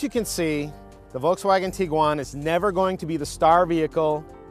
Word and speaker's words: Tiguan: there's a little confusion over how exactly to pronounce this vehicle's name so i looked it up and it is tiguan it's not tiguan it's not taiwan and don't try to google it because you're